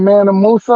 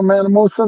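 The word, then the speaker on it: Mansa Musa: young boy African and he's more richer than manam Musa remember manam Musa that's how you say his name yeah oh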